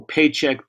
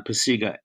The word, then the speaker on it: Pacyga: a joke um and nobody could pronounce my name well paycheck it was just just a mess so we finally settled on pasega i think my senior